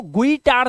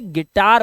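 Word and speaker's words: guitar: है जैसे यहां पर यू आई तो गुईटर नहीं बोलते इसको जो बजाना ना टन टन टन टन इसे गिटार बोलते हैं आपको पता है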